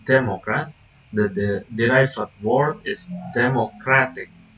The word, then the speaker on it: democratic: The derived word is democratic. In here, the suffix "ik" saves the stress to the syllable before the suffix, causing a complete restructuring of stress placement.